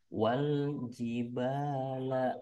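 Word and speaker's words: والجبال: wajibah wajibala autada Nah, di sini diperhatikan kalau ada alif lam, di atas alif lamnya ada sukun atau mati, tanda mati sini nih, maka dibacanya harus jelas. Namanya ini alif lamnya alif lam qamariyah. Pembacaannya harus jelas. Jadi wal jibala autada.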